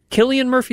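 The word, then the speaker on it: Cillian Murphy: was and I love the fact that uh Killian Murphy is that how you say his name I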